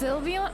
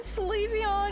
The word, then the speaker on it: Sylveon: uh oh it's pronounced Sylveon oh my god I've been saying I've been saying sleepy on because it looks like the word sleeve so you mean I've